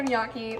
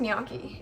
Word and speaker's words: gnocchi: Also, it's pronounced gnocchi. If you say gnocchi, I don't like you.